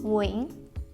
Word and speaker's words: Nguyễn: It looks like it has 2 syllables, but I pronounce it with just one, Nguyễn.